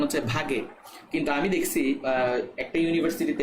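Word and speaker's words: Waage: কিন্তু তোমাদের বইতেই আছে এটা হচ্ছে ভাগে উচ্চারণটা হচ্ছে ভাগে ঠিক আছে তো এটা মনে রাখবা ভর ক্রিয়ার সূত্র কে কে আবিষ্কার করেন দুইজন বিজ্ঞানী গোল্ডবার ভাগে আগে।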